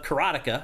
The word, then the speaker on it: Karateka: That's the Making of Karateka.